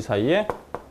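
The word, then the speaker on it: ξ: x2 사이 됐나요 아 이것 사이 라고 읽어요 예열 그리스 문제인데요 이거 이렇게 써요 읽을 땐 즉 사이 그 사이 라고 이걸 아 쌀 타고 그냥 c 라고 하셔도 돼요 c 라고 하셔도 되는데 그 사이 라고 읽어야 자 아 이런걸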